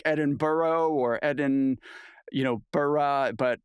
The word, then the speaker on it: Edinburgh: I'm really trying um I feel like Edinburgh is the only Town that's actually longer than it's spelled most things are shortened and they say they found another syllable to add so the Scots